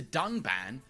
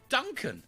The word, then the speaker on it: Dunban: strongly disagree with and then calls the character dunban Duncan this time however they did edit out the